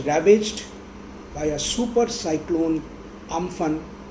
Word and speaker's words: Amphan: by a super cyclone Amphan, or Umphun as it is pronounced in Thailand.